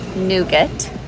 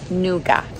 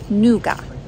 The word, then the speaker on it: nougat: Americans pronounce it nougat. Brits pronounce it nougar, and we're both wrong. The French pronounce it nougat. No T at the end, no R at the end, just nougat.